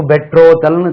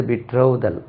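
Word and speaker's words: betrothal: இருக்கு அது பிடி ஆர் O ditch A எல் உச்சரிப்பு பெற்றோதல்னு தவறா உச்சரிப்பாங்க இது பிட்ரோவுதல் பிட்ரோவுதல் பிட்ரோல் விட்ரோதல் பெட்ரோதல் அல்லது விட்ரோதல் விட்ரோதல் ரிங்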